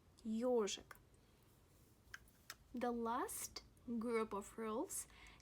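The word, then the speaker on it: ёжик: For example, the word ежик. Listen. Ежик, ежик, ежик, ежик. The stress falls on yo, ежик.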